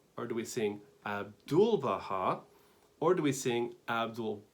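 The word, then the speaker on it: 'Abdu'l-Bahá: abdul baha now again abdul baha is for syllables right and trying to understand where is the emphasis so do we sing abdul baha or do we sing abdul baha or do we sing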